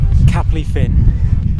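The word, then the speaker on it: Capel-y-ffin: I've come down to Capley Fin. I've been told that's how you say it.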